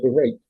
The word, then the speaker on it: prime rate: Se pronuncia prime rate, es la tasa preferencial